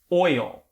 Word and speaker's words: oil: the word oil oil it is perfectly acceptable in north american english to separate this into two syllables and it's a little bit easier to say because it gives you time to focus on that l sound that can be tricky for a lot of